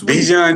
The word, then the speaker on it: Dijon: His name is pronounced like the mustard.